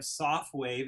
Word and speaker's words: Sofwave: We have SoftWave, and that's spelled SOFWAVE, the most incredible new technology.